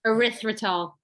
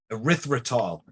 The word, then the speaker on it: erythritol: And instead, we're going to look for monk fruit, raw honey, stevia, erythritol. Did I say that right? Yeah, Right? I like that one. Say it again. Erythritol. Erythritol. Right. Sounds like urethra, but we're gonna every